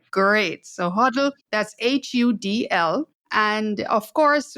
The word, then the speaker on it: Hudl: Did I pronounce that correctly? Yes, you got it right. Great. So Hudl, that's Hudl.